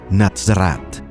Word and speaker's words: Nazaret: Nazaret, o Nazarat, como se pronuncia su nombre en hebreo, es la cuna de la cristiandad.